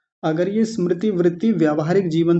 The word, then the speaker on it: स्मृति: करा देता हूं उच्चारण कुछ लोग इस शब्द को बोलते हैं स्मृति यानी ई लगा देते हैं ऐसे स्मृति कुछ लोग तो स्मृति बोल देते हैं स्मृति इस मृति ऐसे करके मतलब उच्चारण अपने